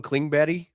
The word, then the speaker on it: Klingberg: Luds, do you think you have it in you to call John Klingberg John Klingberry? Berry? Berry? That's how you say it in Swedish apparently is Klingberry. There's no G.